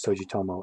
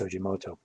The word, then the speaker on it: Tsujimoto: uh tsujimoto number one periodically i mispronounced tsujimoto as sojutomo and i apologize for that i don't know why i do that but it's sojimoto number two i think